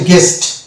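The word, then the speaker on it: guest: পরবর্তী অর্থে যাবে এখানে, এটা হয়ে যাবে এই শব্দের উচ্চারণ হচ্ছে গেস্ট, কেননা জি এ গ ইউ বাদ ইয়ে একার এসে দন্ত সবটি এটা সবটার উচ্চারণ আসে, কিন্তু ইউ এর উচ্চারণ এখানে আসছে না, কেননা ইউ এর আগে আছে জি, ইউ এর পরে আছে ই অর্থাৎ ভয়েল। তাহলে ইউ এর আগে জি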